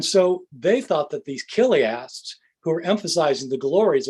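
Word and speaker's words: chiliast: people um we're called killiasts spelled with a c-h c-h-i-l-i-a-s-t killiast which is the latin form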